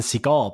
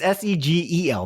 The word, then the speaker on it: Segel: That's probably why you say his name is Jason Segel, because you spelled it wrong. It's Segel, not A-L. You have it S-E-G-A-L here.